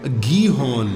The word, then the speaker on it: Gihon: How do you spell that? Gihon? Gihon. Sounds very East Asian, nahi? Sounds very Hebrew. Okay. Gihon. جی ہاں. Hong نہیں. نہیں جی ہاں.